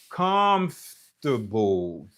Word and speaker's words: comfortable: C'est comme ça ou dit parce que là premier syllabe là, c'est là que ou joindre et stress là qui veut dire accent. C'est syllabe qui accentué hein. So comfortable.